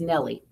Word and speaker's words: Nell Lee: the name Harper Lee she didn't want her first and last names to run together sorry with Nell Lee pronounced as Nellie well that makes sense